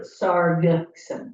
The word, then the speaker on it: Sargeson: Is the G hard or something? The hard G. For Sargeson.